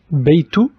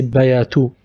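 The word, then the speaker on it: بيت: We have baytu, ba in the starting, sukun on ya, bayt. I didn't say bayatu. Or bayitu, it's sukun, bay, bay, baytu.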